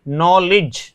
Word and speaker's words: knowledge: जैसे हम नॉलेज लिखते हैं ना, KNOWLEDGE, तो इसमें नॉलेज, तो देखिए डी का उच्चारण नहीं हो रहा है क्योंकि जी से जस्ट पहले डी आया है।